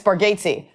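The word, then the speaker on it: Bargatze: I think your daughter mispronounced your name." He was like, "Buddy, you've been doing it for years." Yeah, it's just the what is it? Bargatesy. It's Bargatesy.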